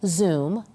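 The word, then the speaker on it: Zum: Now, this year, parents will be able to use an app called Zoom, that's spelled with a U, Z-U-M, to keep track of their kids' buses.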